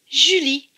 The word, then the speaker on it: Julie: elle et y lit attention le est en bleu donc il ne se prononcent pas cela donne comme mon jus lee julie c'est le prénom julie